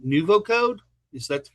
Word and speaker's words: NuvoCode: with Joe Lewinsky, who is with if I pronounce this correctly, NuvoCode. Is that the correct name? That's correct. Yep, NuvoCode Technologies.